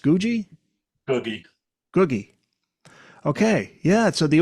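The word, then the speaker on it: Guggi: brother of Bono's good friend is it GUI pronounced GUI googie googie okay yeah so the opening track I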